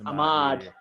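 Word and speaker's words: Ahmaud: don't know how to say his name actually almond well hi say his name um almond almond yeah I mean he got shot recently my my Rashad Ahmad Ahmad it's Ahmad yeah he got shot recently and the fact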